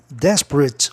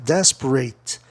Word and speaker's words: desperate: O AT é um grupo em não verbos, AT soa it. E aí a sílaba tônica da terceira casa silábica de trás para frente, ali é na quarta, né? Desperate. Desperate. 1, 2, 3. Na terceira.